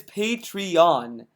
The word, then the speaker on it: Patreon: does he mispronounce patreon it's patreon it's Owen at the end not n i n or a n i mean do you